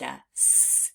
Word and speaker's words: as: by heart that's why we pronounce the word as with the Z at the end now let's practice spelling